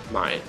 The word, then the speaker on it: Main: Am Main, I believe, means like on the river Main, which is what they call it. It's spelled like Main, so that's how you say it in German.